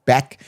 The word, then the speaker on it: Bech: I guess they pronounce it Besh, but I think it could be Beck, could be Beshi.